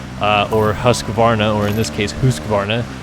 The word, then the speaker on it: Husqvarna: And then another guy commented on the video earlier today and was mocking the way I pronounce Husqvarna, which I know, again, is pronounced Husqvarna, but, you know, a little life lesson for any of you people out there.